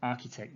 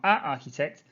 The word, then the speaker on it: architect: number six and architect remember an architect not architect and architect and so just